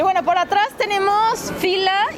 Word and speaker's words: Fila: Sí, pero Fila cambia, Fila. Porque no hay pronunciación con la F.